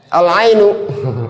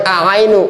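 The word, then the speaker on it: العين: Alainu. Aain. Ain mata. Alinu. Alinu. Ah, ini masuk yang qamariah. Al jelas enggak boleh a'ainu. Enggak boleh harus al ainu.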